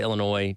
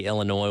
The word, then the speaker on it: Illinois: Tuesday Carolina falling to Illinois 21 to 17 and I'm glad that we can put this game behind us for soon because I'm sick of having to say Illinois without pronouncing the S cuz everybody calls me